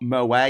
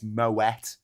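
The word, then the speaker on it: Moët: Who know that it's not moa and shandon champagne. It's moet and shandon because it's not a French word. It's not a French name. So you pronounce the T.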